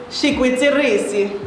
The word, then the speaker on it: shikwitirisi: So how you pronounce this word is Shikwitirisi.